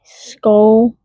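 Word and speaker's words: Sköll: Skull pronounced roughly skull.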